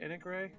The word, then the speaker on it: Anik Ray: It sounds like you're trying to get the attention of somebody whose name is Nick Ray.